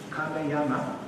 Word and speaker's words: Kameyama: My family name is Kameyama, so the first two syllables sound the same as Cameroon.